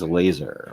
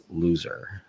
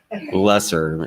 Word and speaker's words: LSR: It's called LSR, which, we have to pronounce as laser or something, or LSR, just not loser. Lesser, yeah, that's a little better.